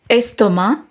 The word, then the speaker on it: estomac: Le C se prononce dans les mots bac, lac, sac. Et le C ne se prononce pas dans les mots estomac, tabac.